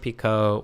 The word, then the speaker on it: Picot: So, it's probably Pico or something, right?